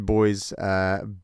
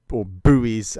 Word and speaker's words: buoy: for our American listener that word that is spelt bu o why we don't call it a buoy we call it a boy yes stupid I know but that's what we do